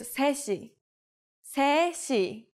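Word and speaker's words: 세 시: say the hour first three o'clock is seshi seshi the native Korean number three is set but we shorten it to say when we put it before our counter like C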